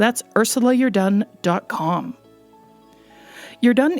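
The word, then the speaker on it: Jordaan: Ursula you're done comm you're done is a Dutch name actually I've had people pronounce it as just Jordan as in the Canadian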